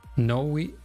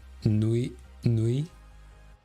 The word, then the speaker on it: Niue: Noe, it's called... Yeah, I can't pronounce it. Noe, it's more like Noe, right? Nui? It's more Nui.